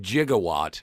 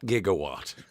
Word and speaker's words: gigawatt: But we also understand that it is pronounced jigawatt, not gigawatt.